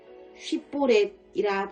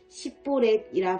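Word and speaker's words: 쉽볼렛: 만일 아니라 하면 그에게 이르기를 휘뽈랩이라 발음하라 하여 에브라임 사람이 그렇게 바로 발음하지 못하고 싯볼에이라 발음하면 길라앗 사람이 곧 그를 잡아서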